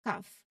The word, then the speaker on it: calf: Now, L is silent before an F. Look at half and calf. Again, the L is not pronounced, so it's half and calf. You go right from the vowel sound to the F sound.